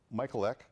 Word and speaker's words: Michalek: It's Michalek. Did I say that right? You said it right.